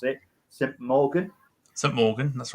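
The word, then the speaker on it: St Mawgan: And saying, I could never pronounce it, St. Morgan. St. Morgan, that's right.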